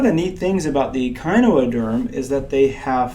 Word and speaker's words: echinoderm: All right, this next group that we're going to study is called the echinoderm, or echinoderm is actually how that's pronounced, and it means spiny skinned.